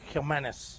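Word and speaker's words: Jiménez: He's the one that Jimenez. But you got to say it like that. Yes. Because he is Spanish. Angel, and you got to go Jimenez.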